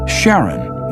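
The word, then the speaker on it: Charon: Christy suggested the name Karen after the ferryman of Pluto's underworld in Greek mythology but preferred to pronounce it Sharon more like his wife's name Charlene from the Motions of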